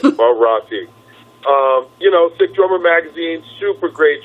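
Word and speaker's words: Morotti: Let me say his name right, Marotti.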